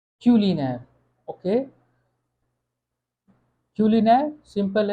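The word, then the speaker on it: culinaire: इसको हम प्रोनाउंस कैसे करेंगे? क्यूलिनेर। क्यूलिनेर।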